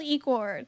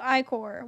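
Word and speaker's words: ichor: fill it with magical e chord that's pronounced i-core wait oh it's i-core thank you this game's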